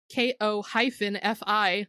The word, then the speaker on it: Ko-fi: you can still buy us a coffee at ko-fi, which is pronounced Ko-fi.